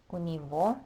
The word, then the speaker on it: у него: У меня, у тебя, у него, that g is always pronounced as v at the end of words.